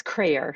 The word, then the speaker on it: Kreher: last name yeah yeah it's crayer so rhymes with prayer all right and I want to welcome into the program Dr narissa crer narissa how are you